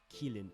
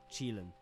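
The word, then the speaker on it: Qilin: Some pronounce it as kin which is incorrect. Others say quin which is also wrong. The word comes from Mandarin and contains this syllable which is pronounced chi. So the correct pronunciation is chin.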